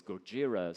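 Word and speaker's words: ゴジラ: product jira because Godzilla the way they they pronounce it in in Japanese is Gojira so they had that idea but the main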